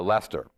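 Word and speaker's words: Leicester: it was at a a town called uh Lester which is spelled l e CI s r just like it sounds it's like it sounds what's what's uh what's silent all of it basically so but this is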